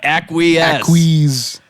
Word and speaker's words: Acquiesce: Yeah, Acquiesce. It's spelled like ACQUE, whatever.